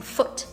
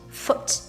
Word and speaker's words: foot: We also have the vowel sound oo and oo. So as in like oo, short one, as in foot, foot, your leg, foot. But the long version of it, which is what we eat, food.